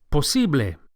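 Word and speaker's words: posible: Spanish the word is possi POS the second syllable the E is accentuated POS POS and the final a sound POS is a pure vowel not a don't say POS but Poss POS impossible in Spanish is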